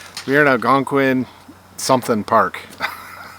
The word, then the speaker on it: Algonquin: So we're on Algonquin. Algonquin? 60. No, that's how you pronounce it, Algonquin?